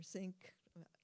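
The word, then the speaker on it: Snyk: then a nice diagram from sneak or sink I have heard it pronounced both ways I tend to do sneak of the source Integrity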